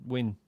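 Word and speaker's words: Nguyen: no I have no it's pronounced win oh for a really yes okay then trying to learn because of watch FL uh there's a Admiral win on uh the expanse and I was like I thought it was it was and I was like oh no that is just how you pronounce that name what is this person's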